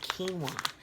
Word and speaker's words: quinoa: brown rice and it's a 90-second rice with quinoa so those of you who don't know this word is pronounced quinoa but if you don't know that